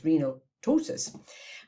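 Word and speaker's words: renal ptosis: Because it's one of those spellings that has a P before a T, but we don't pronounce the P, so it's renaltosis.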